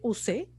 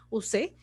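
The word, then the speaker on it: Ussé: es el castillo de use se escribe como lo escuchan s con acento use el castillo dulce era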